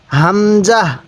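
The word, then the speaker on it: همزة: বলুন ওয়াও এরপরে হা দেখুন এই হা টা উচ্চারণের সময় মুখ দিয়ে হালকা আওয়াজ করবেন তাহলে হা এরপরে হামজাহ এই হরফটির নাম হলো হামজাহ অনেকেই আমরা এই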